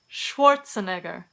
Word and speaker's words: Schwarzenegger: Some common surnames that begin with SCH also take this sh pronunciation in English.